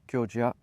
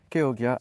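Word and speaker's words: Chioggia: Donc Borlotti, pardon, pas Borlotti, Kyogia, Keyogia. Essayons d'avoir la bonne prononciation.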